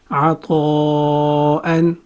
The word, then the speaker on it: عطاءً: همزة is a light letter and it has فتحتين on top of it. همزة فتحتين أن. همزة فتحتين أن. همزة فتحتين أن. Combining all three syllables we have عطاءً عطاءً عطاءً.